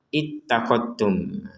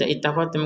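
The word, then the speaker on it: اتخذتم: Kalau kita baca dari sini ittakhadtum. Kalau ada pertanyaan kenapa ini dibaca ittakhadtum, kan tidak ada harokat fathah, tidak ada harokat kasroh. Ya, ini bagi orang yang paham bahasa Arab bisa akan membaca seperti ini, ittakhadtum.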